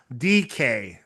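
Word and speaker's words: Dike: I don't know because he threw he threw it to Shamir DK whose name is spelled much whose name is spelled differently but it's pronounced DK which also sounds funny if you think about it.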